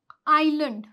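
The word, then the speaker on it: island: S silent रहता है अगर एस के बाद क्या आ रहा है एल आ रहा है तो फिर एस क्या हो जाएगा आपका साइलेंट हो जाएगा जैसे कि आई एस एल ए एन डी ये क्या है आइलैंड आइलैंड ठीक है तो यहां पे जो एस है हमारा वो साइलेंट हो गया यहां पे आयल आयल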